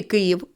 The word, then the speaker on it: Київ: слові Київ два склади визначимо який із них наголошений прокричимо слово Київ або перепитаємо Київ який склад наголошений який склад Я вимовила з більшою силою голосу розумнички в слові Київ наголошений перший склад впевнена що ви запам'ятали